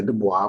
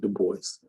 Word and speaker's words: Du Bois: Some people say Du Bois, but that's not how you pronounce it. You do pronounce it Du Bois.